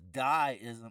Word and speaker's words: deism: Because even though it's the first syllable is die-ism, like it was die-ism, it shows you an